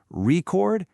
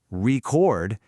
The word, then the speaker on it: record: Take record. Stress the first syllable record, and it's a thing, a noun. but stress the second syllable, record, and now it's an action, a verb. Same letters, totally different beat, totally different meaning.